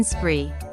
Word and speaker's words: spree: Remember to pronounce every consonant in the consonant cluster, SPR, in spree.